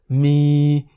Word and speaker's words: มี: Examples of words containing Sara-E are mi in the middle tone, meaning to have, and mi in the rising tone, meaning the animal bear.